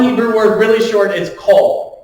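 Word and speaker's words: קול: So Q o L cole. Just pronounced coal. Just like what you don't want in your your Christmas stocking.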